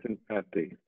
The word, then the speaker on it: Hassan Fathy: Eugene, while studying at Delhi, he was inspired by the architect Hassan Fathy. Is that right? Is that how you say his name? Right. Hassan That's Fathy. That's right, Hassan Fathy.